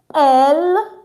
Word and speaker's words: elle: Eel meaning e l please. It's not l. It's not l. No. Why? Because you see this e here. We're not going to pronounce it. It's silent at the end of the word.